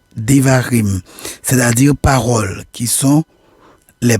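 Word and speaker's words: דברים: Il est intitulé en hébreu Devarim, prononcé Devarim, c'est-à-dire paroles, qui sont les premiers mots du texte, ou Mishneh, Torah, la répétition de la Torah.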